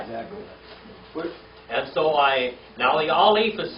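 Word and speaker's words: א: So the Aleph is silent, and then we have the Bet.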